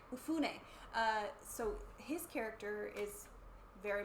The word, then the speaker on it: Mifune: And then I'm sorry, is it Momofuke? How do you say his name? The character? I forget the character's name. No, the actor. Oh, Toshiro Mifune? Mifune.